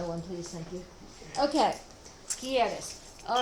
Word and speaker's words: quieres: I know, but I don't know how to pronounce it. Okay. Quieres. Quieres, just a minute. Quieres.